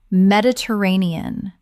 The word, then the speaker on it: Mediterranean: Mediterranean Common mispronunciation: Med-it-er-a-ne-an Correct pronunciation: Med-i-ter-ra-ne-an Six syllables with the stress on the fourth.